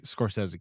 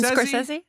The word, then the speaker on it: Scorsese: the early Scorsese collaborator. Yes. Am I saying it right? This is our first episode. Martin Scorsese? How do I say it? Scorsese. Scorsese.